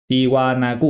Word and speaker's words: Tiwanaku: I'm in Bolivia we'll go to Bolivia tiwanaku tiwanaku yes I said it right Today Anaya called